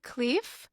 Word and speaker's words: Khleif: I'm your host, and today I'm joined by someone that I'm really looking forward to chatting with, Rod Clee. I hopefully I pronounced your last name correctly.